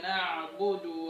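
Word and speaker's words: نعبد: Nah, lebih tegas lagi pengucapannya. Maliki yaumiddin. Maliki yaumiddin. Iyyaka na'budu wa iyyaka nasta'in.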